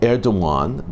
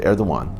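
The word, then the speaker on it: Erdoğan: turkey Turkish president T erdogan the G is pronounced as a w by the way held a phone conversation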